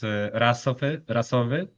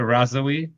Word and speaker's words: rasowy: In Polish, it's rasowy, but I kind of get used to the razowy. It's just fine for me. Okay. If people say razowy, like you pronounce it